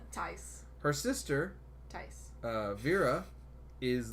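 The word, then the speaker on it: Taissa: It's not said how it's written. She's got an exotic name. Tice. I think it's Tice. Is it Tice Formiga. Tess? Not Tess. Tice. Her sister, Tice. Vera, is Tice.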